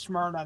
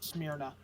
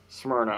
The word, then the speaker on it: Smyrna: that's rather nice um FYI is pronounced Smyrna not smna Smyrna okay in Florida it's